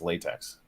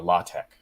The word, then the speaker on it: LaTeX: claims that there is only one format and that's latex or law Tech see that's what I love about so many of the words in technology there's only one way to pronounce them I think that's how